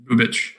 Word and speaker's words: Bubic: Bubic or Bubic? Bubic. Oh, he's an Eastern European? Yeah, apparently. That's how you would pronounce it if he was in the NBA.